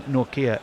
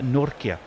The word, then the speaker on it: Nokia: perfect but I think it should not be pronounced Nokia but either nor Kia which is true and I think well yes it's not Kia nor we had a la discover of this nor as in Norway and Kia as in